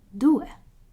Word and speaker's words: due: as in elephant and d is very similar as in dolphin and you is in university so it's due and as well is